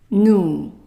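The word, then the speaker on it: nous: is pronounced ooh so you bring your lips together as if you want to whistle and you pronounce ooh O Okay so let's practice new very good and let's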